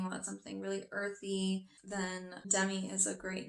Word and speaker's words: Demi: chan d or lee the next name is demi like demi moore you can also pronounce it as demi and this is a